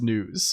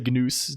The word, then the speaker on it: Gnus: Yes, I know it's pronounced news. Um, but I'm going to say GNous to, you know, um, oh, there's even a Wikipedia page for it.